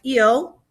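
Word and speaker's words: ils: group one for girls so the boys are ill and the girls are l so let's talk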